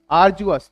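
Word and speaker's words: arduous: अब देखते हैं पहले शब्द से, इसको बोलते हैं आर्जुअस। तो सही उच्चारण आप करेंगे, क्या है?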